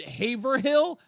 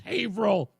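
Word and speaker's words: Haverhill: at WRKO in Boston, I said I said Haver Hill and the crowd went nuts and all. I was like, "What did I do?" And they went, "It's Haveril. It's Haveril."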